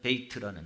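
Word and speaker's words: בית: 그 다음에 그 다음에다 있는 단어가 뭐냐면 이렇게 있어가지고 이게 뭐냐면 베이트라는 겁니다. 베트라고 쓰는데 베이트라는 단어입니다.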